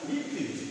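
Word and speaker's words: little: अब ये इसका प्रोनाउंसिएशन हुआ लिटिल, लिटिल।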